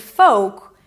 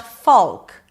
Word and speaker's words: folk: And then we have the word folk. It is not folk. There is no l and the o is a long o in go.